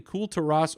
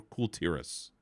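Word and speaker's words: Kul Tiras: Are you saying Cool Terras or Cool Terrace? I'm saying Coal Terrace. Coal Terrace. Because I think that's how they say it, but I kept saying Cool Terras. I think it is Cool Terrace.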